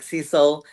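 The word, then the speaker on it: Siesel: There's the way it's spelled as like Cecil uh like diesel except with an S eel.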